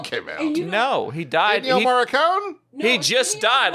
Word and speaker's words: Ennio Morricone: Yes, he's Ennio Morricone.